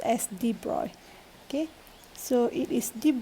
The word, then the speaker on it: de Broglie: wavelength so color h and there my chimney deep broccoli but we pronounced as deep roy okay so it is deep broadway flank okay